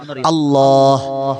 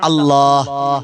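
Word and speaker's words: الله: അല്ലാഹ്. അല്ലാഹ് എന്ന് പറയും. അല്ലാ നിർത്തുവാണ്, പോരാ. അല്ലാ എന്ന് എഴുതുമ്പോ അലിഫ് ലാമ് ലാമ് ഹാ, ഈ ഹാ നമ്മുടെ കൽബിൽ വരണം.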